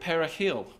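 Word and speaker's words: perejil: on the border to pronounce the word perahil or Pat parsley and thousands who didn't Trill their R's in the Dominican executed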